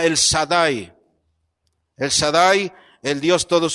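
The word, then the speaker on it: El Shaddai: como Dios Todopoderoso o en la pronunciación antigua se llama el sadai el sadai el Dios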